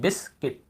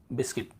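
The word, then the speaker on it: biscuit: तो यहाँ पे ये प्रिंटिंग मिस्टेक है, बिस्कुट नहीं होता, ठीक है, हिंदी में हम बिस्कुट बोल देते हैं, बिस्किट।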